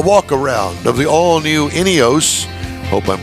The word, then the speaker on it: INEOS: it all right so did I pronounce it right inos yes inos Grenadier is the name